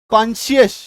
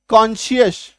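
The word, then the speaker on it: conscious: वेश होता है तो एससी का उच्चारण तालव्य स होता है ठीक है यसे एससी बीच में आ गया इसके बाद क्या है आई है कॉन्शियस क्या उच्चारण है कॉन्शियस कॉन्शियस एल य एस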